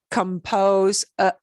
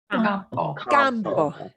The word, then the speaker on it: campo: Compose, compose, components, compost is a little bit different, but compose, right?